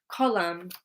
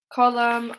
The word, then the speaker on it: column: Okay, if the letter N is at the end of the word and it comes after M, it's silent.